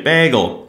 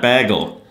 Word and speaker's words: bagel: I'm supposed to say bagel, not bagel.